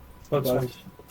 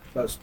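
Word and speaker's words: boatswain: Boat swing. Huh? Boat swing. Bosun. Closely. That is their rank. Boat swing. Okay. Not Or you can, some people pronounce it boat swing.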